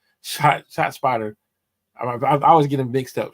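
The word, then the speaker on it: ShotSpotter: Okay, the technology that they recommend was the spot shotter, or is it? I'm saying it wrong. Shot spotter.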